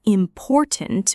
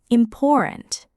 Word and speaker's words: important: This happens when the T is not fully pronounced with the tongue. Instead, the airflow cuts briefly in the throat.